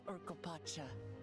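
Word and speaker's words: Urqopacha: So this is Urkopacha. Urkopacha. Totally been saying it wrong.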